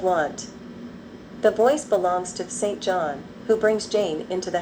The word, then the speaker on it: St. John: The three women are waiting for someone named St. John, pronounced St-Jean.